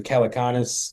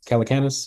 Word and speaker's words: Calacanis: Calaconis. Calacanis is how I pronounce it.